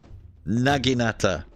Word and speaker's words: naginata: The Naginata. It's pronounced Nag. Naginata.